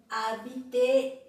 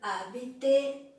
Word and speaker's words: habiter: mas para nossa alegria, no começo existe só uma, que é o H, ou H em francês. Então lá você lê hôtel, homme, habiter, hommage. Hôtel, homme, habiter, hommage.